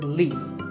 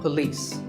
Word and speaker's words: police: polis its path and police with the stress on lease so police the next word is